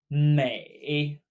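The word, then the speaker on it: 美: Mei. Mei. Like maybe.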